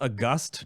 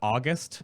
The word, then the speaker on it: august: was a huge one and it BAE is pronounced a gust not August Celestials it's a gust Celestials because it's actually